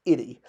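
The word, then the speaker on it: ity: And that's because this is the word for, or rather, well, it's pronounced itty once you get rid of the additional echo sounds, but it's the word for sovereign.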